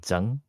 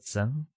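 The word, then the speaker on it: Tsang: um like for example named zang. Mhm. So you know t s a n g. Mhm. They usually pronounce this as s. Mhm. Oh yeah. because they they can't do like the hot t sound right before the s sound.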